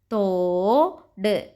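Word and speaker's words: തോട്: Ta with the o sound. To. O symbol always comes both side of the letter. There are two symbols. One is left and one is right. Ta plus o, to. Da plus half moon symbol, d. Toad.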